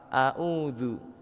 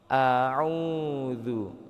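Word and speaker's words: أعوذ: Auzu biasanya kan kita ke bawah kebiasaan bacanya sama auudzu. Nah, itu kurang benar. Yang benar adalah kita dibedakan bacanya. A u au. Coba bareng-bareng. Auzu ya.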